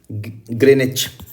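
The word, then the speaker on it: Greenwich: When it इज़ 12 Noon Monday at द ग्रीनविच। तो ध्यान से समझो, ये मैंने क्या लिया हुआ है, ग्रीनविच लिया हुआ है। ग्रीनविच मतलब क्या है, 0 डिग्री मेरिडियन। ग्रेनिच, ग्रेनिच भी इसको प्रोनाउंस करते हैं।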